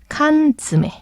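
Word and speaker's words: 缶詰: 근데 대신에 발음이 칸츠메 발음이 힘드니까 땡땡 붙어서 칸즈메 그 뜻은 통조림.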